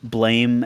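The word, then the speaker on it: Blame!: Shell in here, some spelled blame exclamation point but pronounced blam, the manga.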